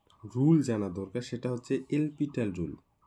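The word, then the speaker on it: L'Hôpital: এলপিটাল, তো আমরা এলপিটাল বললে কেমন হয়, এল হসপিটাল অনেকে বলে, তো এলপিটাল অ্যাকচুয়ালি উচ্চারণ করতে লাগে। তো এখানে দেখো হসপিটাল বলেও তোমরা উচ্চারণ করতে পারো, কোনো অসুবিধা নেই।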